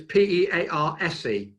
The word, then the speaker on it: Pearse: up there on my, Pearse is spelt unusual. And yet I was told Pearse is a Devon, Somerset original, from Devon and Somerset, but it's Pearse.